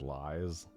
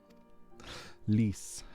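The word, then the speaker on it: Lyse: I love that her name, if you pronounce it phonetically, is Lies. Lise.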